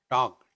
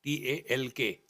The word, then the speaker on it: talk: In English, there are silent in talk, Talk. Talk. L is silent.